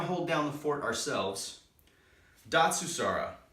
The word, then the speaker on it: Datsusara: film we're gonna hold down the fort ourselves dot sue Sarah it's pronounced dot sue saw raw Japanese it means to escape suffering and find